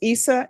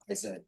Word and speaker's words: Isaiah: Court is calling 2023 CR 9442, State of Texas versus Issa. Is it pronounced Issa? Isaiah. Isa? Isaiah.